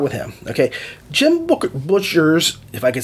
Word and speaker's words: Butcher: him okay jim booker butcher's if i could say his name is not booker it's butchers peace talks is not